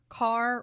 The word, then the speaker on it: Kerr: Mayer, head of MGM, billed her as Carr rhymes with star.